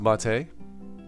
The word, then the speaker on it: MATE: better than Marte ah not today it is pronounced Ma Tei it's simcha Motti is a tea a drink